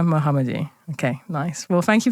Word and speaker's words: Mohamedi: so I'm saying it correctly how do I pronounce your name Mohamed muhamed okay nice well thank you for coming in